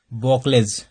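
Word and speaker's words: Buchholz: इसमें क्या है जी बॉकलेज, बॉकलेज क्या है रिले है, बॉकलेज रिले है, बॉकलेज रिले है, ये आपको बोकलेज हर जगह अलग अलग प्रोनाउंसिएशन करते हैं, लेकिन बोकलेज रिले है।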